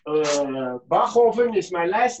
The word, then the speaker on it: Bachofen: here because it's uh not so easy to pronounce so it's uh bachoven is my last name but yeah i know